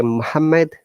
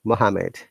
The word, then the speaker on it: Muhammad: And this is people say Muhammad, one M should be removed in the double M. Mohammed, Abdullah.